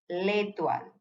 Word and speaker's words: l'étoile: end of any word, please pronounce both the words, the word with the apostrophe and the next verb with it together. So it's l'homme, l'étoile.